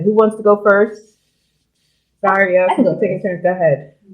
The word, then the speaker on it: Zaria: My Instagram is Zaria. That's Zaria. My name is spelled like Maria, but with a Z.